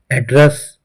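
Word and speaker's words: address: दर्शकों, एड्रेस और एड्रेस दोनों की स्पेलिंग सेम होती है, लेकिन जब इसे एड्रेस बोला जाता है तब इसका अर्थ होता है पता, हमारे निवास का पता। जैसे कि वो जब इसे एड्रेस प्रोनाउंस किया जाता है तब इसका अर्थ होता है निवेदन करना या व्याख्यान देना।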